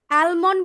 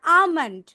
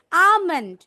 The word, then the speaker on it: almond: এটাকে আমরা কি বলি আলমন্ড বলি না আমন্ড L should be silent here L should be silent here বলো almond and then it should